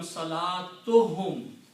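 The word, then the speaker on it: صلاتهم: So salatun and whom, when you combine them, you don't pronounce two dhammas here. It will become salatuhum.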